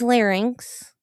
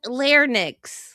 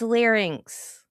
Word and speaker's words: larynx: Thank you for saying it correctly, Rudolph. It's larynx. It's lot. It's a lot. It's not. Now I can't talk. It's not lin. It's larynx. Not lination.